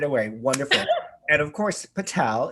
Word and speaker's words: Patel: And of course, Patel is correct, right? Yes, it is correct. Always the last syllable, the stress falls on the last syllable.